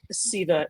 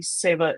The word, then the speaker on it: Seva: I'm the founder of Seva Digital, or pronounced more correctly, Seva Digital. That's my upstate New York accent getting the better of me.